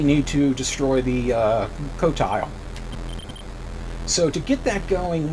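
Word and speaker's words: Qotile: sorry razak 4 um in here is the cotile q t i l e um that is how it's pronounced according to uh warshaw so I'm going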